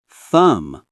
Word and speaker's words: thumb: B is silent. Thumb.